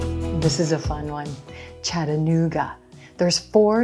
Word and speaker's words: Chattanooga: We're gonna emphasize the blue moon oo vowel coming after the N consonant. Chattanoo, Chattanoo. Then we have the G consonant, g, g, and a schwa for our final syllable.